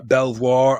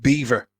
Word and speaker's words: Belvoir: occasionally buy rybina or Belvoir or I think it's pronounced beaver Ginger cordial but when I